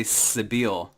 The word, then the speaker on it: Cibele: pronouncing that right yes I've heard someone else say Sabeel yeah people pronounce it in lots of different ways but I have my original pronunciation that I learned was Sybil so I stick with it okay cool yeah I